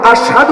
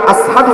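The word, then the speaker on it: أشهد: দূর যেত না এবং উনি আশহাদু উচ্চারণ করতে পারতেন না, আসহাদু উচ্চারণ করতেন।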